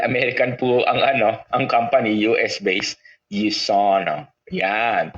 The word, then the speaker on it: USANA: So, pero dahil American po ang company, US-based, USANA. Yan. Pero pag sa Pilipino, iba na basa niyan. Ang basa niyan, Yusana. No. So kasi syempre, medyo iba raw talaga yung ating diction, no, ating pronunciation. Anyway, again, Yusana is true health.